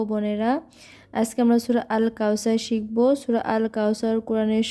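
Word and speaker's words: كوثر: কাল কাউসার এভাবে বলতে হবে। অনেকে আমরা সার বলি, সার হবে না, কাল কাউসার এভাবে উচ্চারণ করব।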